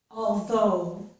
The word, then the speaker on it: although: But notice that the GH is not pronounced in these words.